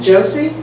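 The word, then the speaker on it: Joose: by barbara m heaven only knows how you pronounce her last name josie is it josie yes it's j-o-o-s-e yeah okay um and what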